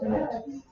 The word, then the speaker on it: init: We'll run npm space init. Init, like initialization. No I.